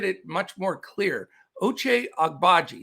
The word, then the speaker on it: Agbaji: baji i'll get it much more clear oche agbaji it's just a little tricky on the when you're pronouncing it but i love this kid he's